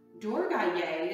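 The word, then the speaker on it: Durgāyai: Durgaye is how we sing her name in the mantra.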